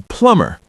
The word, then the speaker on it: plumber: You have to call a plumber. Remember, the B is silent.